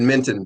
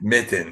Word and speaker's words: Mitton: I think you said Minton, but that's okay. Mitton.